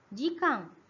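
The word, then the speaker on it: 時間: Nah, Toki ini kalau dia digabung dia bacanya Ji ya. Dari sini buktinya. Jikang.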